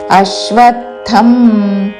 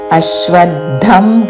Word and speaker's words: అశ్వత్థం: దీర్ఘముతో శాఖం ఊర్ధ్వము మూలమధశాఖం అశ్వత్థం ఆమెతం అశ్వద్ధం కాదు అశ్వద్ధం ప్రాహుర్యం రా మీద ఆఘాత